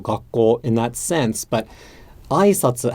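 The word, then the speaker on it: 挨拶: in that sense, but aisatsu has the accent on the first mora. So if I said aisatsu, greetings, as a question, it would be aisatsu. So it would start high, go low, and then there would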